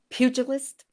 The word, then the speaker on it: pugilist: And from that, we're working towards a pugilist. Is that how you say it? Who enters the ring? Pugilist. Pugilist. Okay, we pronounce the G.